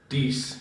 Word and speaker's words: Dries: Hi, for future reference, my name is pronounced like Reese. Like Reese with a D. We should read these. Dees.